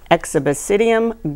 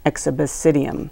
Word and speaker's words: Exobasidium: It's called Azalea exhibicidium gall, or leaf and flower gall. It is, I'm supposed to spell that, E-X-O-B-A-S-I-D-I-U-M, exhibicidium.